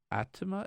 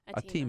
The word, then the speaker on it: Atima: the O'Mara Strategy Group at tema is that how you pronounce it a team ah sorry a team Oh Oh Maura hiya